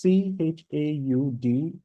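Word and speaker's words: Chaudhuri: Sir, please, can you pronounce the bus Chanduri? This bus Kunduri. That's Chauduri, bus Kunduri Hokwegem.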